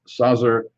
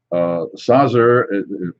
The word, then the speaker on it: Saaz: And it says Sinebrychoff Porter is generously hopped with Saazer and bittering hops. Saazer, as I know the pronunciation would be Saaz without the ER, but it comes from the Saaz region of the Czech Republic.